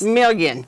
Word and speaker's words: Milien: Today, we are talking about Reid Health Hospitalist, and our guests today are Cherie Frame, nurse practitioner, and Seneque Milien. Help me pronounce this again. It's Milien.